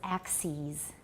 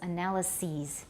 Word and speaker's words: analyses: The plural is axes. Just like basis, the plural is bases. Analysis, the plural is analyses. You replace the I with an E, and you pronounce it ease.